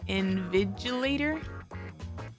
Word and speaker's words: invigilator: The G in is pronounced more like a J invigilator?